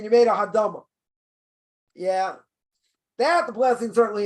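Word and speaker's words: האדמה: The word hadama, you say ha'adam. You say ha'adam. Yeah, that's the wrong word.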